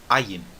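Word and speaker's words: עין: Então, o ayin tem o mesmo som do aleph. É aquele som de quando eu falo tá bom? Ayin, e também, como o aleph, ele pode ser um som mudo, pode ser um som silencioso.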